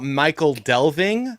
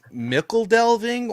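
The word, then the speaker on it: Michel Delving: I used to call it Michael Delving. It's Mickle Delving, and then someone said Mitchell Delving, but I still think it's Mickle Delving.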